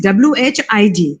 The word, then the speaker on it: Whig: It is Whig. That is how we pronounce it. It's a little uncommon, but it is that way because generally it is Whig, but ours is Whig.